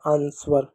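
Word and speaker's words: answer: डब्ल्यू से व होगा। आर से र हो जाएगा आंसर। क्या हो जाएगा? आंसर। आंसर। आंसर। ठीक है? आंसर। ठीक है? इस तरीके से आंसर। डब्ल्यू यहां पर साइनेंट होगा।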